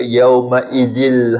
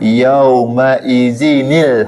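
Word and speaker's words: يومئذٍ: Kalau orang yang tak boleh membaca dia akan baca yaumaizil haqah. Cara bacaan yang betulnya ialah kena letak huruf nun kecil di sini di bawah. Letak baris di bawah sani. Jadi bacaan yang betul ialah yaumaizinil haq. Bukan yaumaizil haqq.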